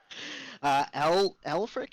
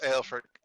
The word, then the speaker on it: Aelfric: Elfric, am I pronouncing that correctly? Close. Aelfric.